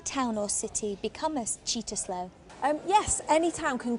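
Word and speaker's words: Cittaslow: that mold has cow status um it it's pronounced cheetah slow um and yes we do we are cheetah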